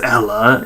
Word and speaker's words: Ela: One thing first off, fucking I'm annoyed when I hear people call Ella Ela. It's not Ela, it's Ella. Even the fucking Rainbow people who made her said it's Ella.